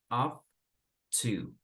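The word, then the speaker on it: ought to: Pay attention to the pronunciation. We pronounce like off to. Off to.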